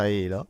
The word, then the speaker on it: Halo: Perché tutti lo chiamano Halo, ma in realtà si pronuncia Halo.